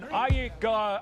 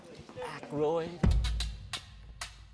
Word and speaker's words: Aykroyd: Chevy Chase, Gilda Radner, Dan Iyek, how the fuck do you pronounce this? Aykroyd.